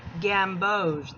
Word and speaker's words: gamboge: One's cadmium yellow deep hue and one is a gamboge hue. It's pronounced gamboge.